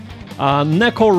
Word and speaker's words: neko: So, for example, saying neko rhymes with, god damn it, mecha.